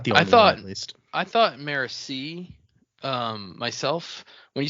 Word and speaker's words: Marasi: If somebody said Morassi to me, I'd be like, "You're you're I'm sorry. You're wrong. That's not how you say that name."